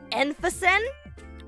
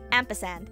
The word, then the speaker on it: ampersand: Emphasen? Close. Ampersand. Yeah, it's ampersand. It's ampersand.